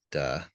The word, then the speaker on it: Dao: So the first line of chapter 1 reads, "The great Da," and it looks like D, but it's pronounced Da.